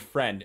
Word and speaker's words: friend: dictionary version of how friend is spelled and little part where it says how to sound it out there's no I and it doesn't sound like there's an i in the word friend either it's not fry end